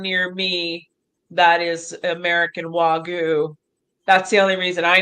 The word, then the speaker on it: Wagyu: She's going to go into, see, how do you pronounce this cow? It's a Japan. What Wagyu.